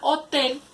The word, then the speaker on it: hotel: La palabra hotel también se divide en dos sílabas. Lleva la acentuación en la sílaba tel.